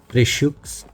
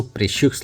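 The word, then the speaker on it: précieux: का नाम मेंशन है, प्रेशियोस 1। यहाँ पे वैसे आपको प्रेशियोस लगेगा, लेकिन फ्रेंच में इसको प्रेशियो पढ़ते हैं, मतलब एक्स साइलेंट हो जाता है।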